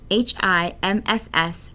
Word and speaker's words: HIMSS: information management system society HIMSS pronounced hims proposed a five stage